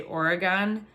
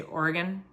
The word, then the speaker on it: Oregon: of those things like Oregon if you say origon like um you got to say Oregon right uh yeah so I didn't know that